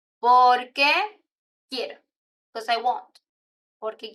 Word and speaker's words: porque: It's not the same por qué and porque. Even in the pronunciation, you have por qué, por qué. And the answer is porque, porque. So the stress, por qué versus porque.